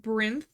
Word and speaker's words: Brinth: Um like my username is pronounced Brinth, like Labyrinth.